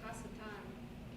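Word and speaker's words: השטן: Okay, and In Hebrew, it's Hasatan.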